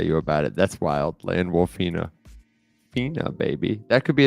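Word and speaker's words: Landwolfina: will not land wolf land wolfina land wolfina he got he got himself a little girlfriend W Fina what's misrepresentation spell it Ina like Aquafina but land wol well my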